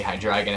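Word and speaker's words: Hydreigon: I tend to say hi dragon I think most because I have dragon I think that's the proper pronunciation because of like it's based on like the German word for the number three anyway hi dragon here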